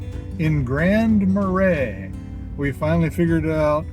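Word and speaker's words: Grand Marais: All right, ladies and gentlemen, this is Wilson Street in Grand Marray.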